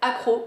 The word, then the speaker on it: Akro: suite avec deux parfums d'une marque qui s'appelle accro ça s'écrit Akro c'est une marque française qui a